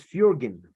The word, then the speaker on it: Fjoergyn: very important to me um well the correct pronunciation is fjergen nice nice to know Fury again so we're